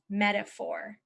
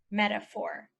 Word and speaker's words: metaphor: to remember this word you could say she met a poor man and talked about metaphors she met a poor